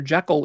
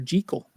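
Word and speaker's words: Jekyll: Jackekal is not the right pronunciation. It's Dr. Jel.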